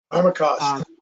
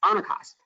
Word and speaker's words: Armacost: AR um AR armos arm I always mispronounce it armacost armacost yes armacost uh for all of